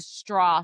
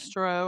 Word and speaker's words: Stroh: Okay, I don't know how to pronounce this, so don't come at me, but the Straw family. The Stroh. I would say Stroh.